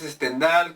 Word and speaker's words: Stendhal: hablando sobre el autor el autor es stendal no en br se pronuncia stendal Yo siempre decía stendal es stendal que es un seudónimo parece